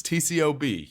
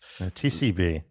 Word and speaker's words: TCB: TCOB, you were taking care of business. TCB. They don't say the O?